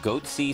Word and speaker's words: goatse: and they're getting the goatse picture they're called goatse security is that my pronouncing that correctly yeah that's right we're analyzing